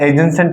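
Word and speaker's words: adjacent: इस डी की साउंड नहीं आती या साइलेंट है। ऐसे कई वर्ड है जैसे बेटा एजेंसेंट है, एडजेक्टिव है।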